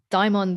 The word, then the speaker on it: daimon: But, I mean, I say daimon. That's the Daimon. way I spell it is the Greek version of the word, the anglicized Greek version.